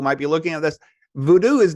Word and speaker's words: Vodou: talk about my research people think that I mispronounced it because of my accent you know I come from France I probably don't know how to say it but it's actually not the case it is voodoo so there are two